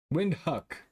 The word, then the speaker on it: Windhoek: Pronunciation. Windhoek.